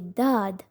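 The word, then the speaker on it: ض: This letter is not simply Dhaad, but it is a heavy letter and needs to be pronounced heavily. Dhaad, Dhaad.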